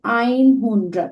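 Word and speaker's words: einhundert: আর নয়েনজিশ যেটাকে আমরা বলছি 90, 90-র পরে যখন আমাদের আর রাউন্ড নাম্বার আসে 100, 100-কে আমরা বলতে পারি আইন হুন্ড্রাড।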